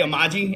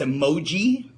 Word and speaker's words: emoji: like yo dude listen the way that you say ammaji is wrong its emoji so I need to